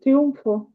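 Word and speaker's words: triunfo: Оце амфітріон і тріу тріумфо. Тріумфо. Так, тріумф у нас теж це слово використовується, але в нас через м пишеться. В них пишеться через н, але вимовляється все одно тріумфо.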